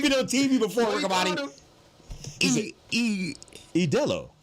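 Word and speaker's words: Ídolo: Idolo. Like Modelo? Yes. Not Idolo.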